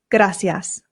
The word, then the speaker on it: gracias: live in Spain and here in Spain they pronounce the c's with a th sound F so this becomes